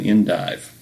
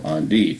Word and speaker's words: endive: They taste somewhat bitter at first, but are crisp and juicy, similar to the leaf of an endive, or endive, however you want to pronounce it.